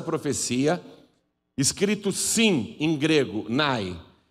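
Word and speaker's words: ναί: o sim na nossa língua no original grego Se escreveu nai significa Sim esse texto que eu estou lendo em português para você na verdade ele é traduzido do grego e o Sim lá em grego é nai porém a palavra amém não é grega ela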